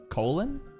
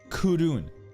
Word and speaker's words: Kowloon: Colon? Nah, Kowloon. That's what the Japanese are pronouncing it.